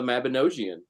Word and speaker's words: Mabinogi: And for any pagans out there, they're based on the Mabinogion, Welsh mythology, or the Mabinogi, as Dave the Bard just told me is the correct pronunciation.